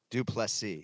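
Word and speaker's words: Du Plessis: trick still knocks duplicity do play c do plus c so we emphasize the last syllable and it is dracus so uh i mean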